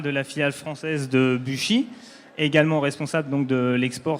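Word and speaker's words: Büchi: Donc Buchy, société suisse, prononcée Buchy en Suisse allemande, société qui a plus de 75 ans d'existence et innovante par nature.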